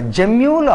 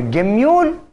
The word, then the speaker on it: gemmule: Some people pronounce as a gemmule or a gemmule. Okay, fine. Can do it in any way.